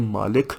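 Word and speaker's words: مالك: करोगे कि मैं हूँ मालिक यौमुद्दीन। बाय द वे, मालिक यौमुद्दीन, मालिक के वर्ड के 2 प्रोनाउंसिएशन होती है, मालिक और मलिक। मालिक होता है किंग, मलिक होता है ओनर, दोनों ठीक है।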